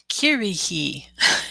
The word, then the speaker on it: Kirihi: This is one that I usually pronounce with a T instead of an R but that's just because I struggle with it.